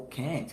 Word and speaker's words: Kant: E a gente finaliza o vídeo, né, falando aí sobre Immanuel Kant, ou Kant, como alguns pronunciam, que tem uma obra, né, chamada O que é o Iluminismo.